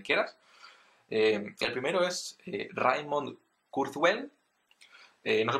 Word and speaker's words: Kurzweil: google o donde quieras el primero es raymond kurzweil no se pronuncia así por supuesto y para porque para